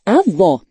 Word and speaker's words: avó: Acento agudo, O, que indica uma vogal com som aberto, como em avó. Acento circunflexo, chapéu, que indica uma vogal com som fechado, como em avô.